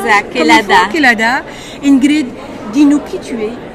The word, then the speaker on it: Kelada: C'est comme ça se prononce? Exact, Kelada.